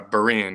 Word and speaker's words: Berean: if I pronounce it right it's is it Berry and high school is that how you pronounce it uh Berean yeah Marine high school now look you get